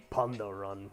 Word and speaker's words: Pandaren: called the pant but we pronounce it pandaren right you're like the mists of pandaren right but it's like but it's like it's pundo run you know it's like